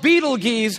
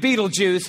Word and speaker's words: Betelgeuse: It's called Betelgeuse or Betelgeuse. You can pick your pronunciation. I'm obviously going with Betelgeuse.